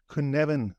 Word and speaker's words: Cynefin: this kuneven framework and the reason I'm trying to pronounce it that way is because I've only known it on text for for so long and the way you write it is not how I would expect you to pronounce it and I think it's because it's a a Welsh word um so but but